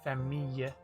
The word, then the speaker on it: famille: It's just, it kind of has a y sound, like famille. I was over exaggerating it, but like, I don't understand, because the L on its own gets pronounced, but then when you double it up and add an E, and it's preceded by an I, it gets the E sound.